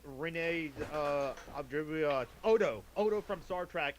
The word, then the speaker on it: Auberjonois: Auberjonois. Auberjonois.